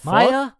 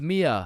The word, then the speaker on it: Mia: Wait, what the Maya, is is Maya present? Uh, it's it's Mia.